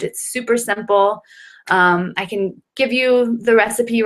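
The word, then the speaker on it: ume: have lots of stamina so it's spelled u-m-e umi and you'll find it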